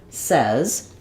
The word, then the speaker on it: says: at is the word says the word says is spelled uh the same as the word say plus the letter s